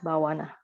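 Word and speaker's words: bhāvanā: Yes, bhavana, right? So you have this bhavana. It should be long A in front, so bhavana.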